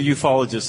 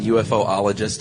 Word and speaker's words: ufologist: That's what ufologists have been talking about, right? Is that how that's pronounced? Yes, ufology. Okay, because I kept saying UFOologist, and that's like saying Do you refer to the IRS as the ERS?